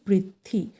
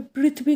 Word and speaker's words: পৃথ্বী: পয়রে পৃ, থয় বয় দীর্ঘী, উচ্চারণটা হবে পৃথিবী করবে না কিন্তু, পৃথ্বী।